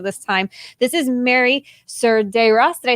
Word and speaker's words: Cerdeiras: the course of this time this is mary sergei ross did i say it right that's pronounced right yeah that's always like a thing